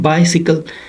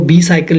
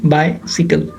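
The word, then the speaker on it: bicycle: कुछ लोग होते हैं वो बी साइकिल यूज़ पढ़ते हैं इसको, मैं भी शुरू में ऐसे ही पढ़ता था, जब मुझे पता चला मैंने कहा ये ग्रामर किस तरह की है, ये मतलब किस तरह के रूल्स हैं, किस तरह की प्रोनाउंसिएशन है, फिर इसको हम क्या पढ़ते हैं, बाइसिकल, आई का साउंड वहाँ और वाई का साउंड वहाँ।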